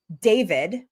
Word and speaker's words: D4vd: He goes by David D4 V D. I think that's probably like his online name. And then he just like took it and said, "Hey, I'm David."